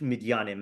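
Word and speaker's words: מִדְיָנִים: Ish midyanim is how you say it.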